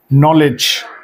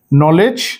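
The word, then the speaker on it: knowledge: তিনটা শব্দ আমরা লিখেছি নলেজ উচ্চারণ গুলো আপনি জানেন নাইট নি তাহলে দেখেন এখানে কে শব্দটা কিন্তু বাদ হয়ে উচ্চারিত হচ্ছে নলেজ নাইট নি মানে হাঁটু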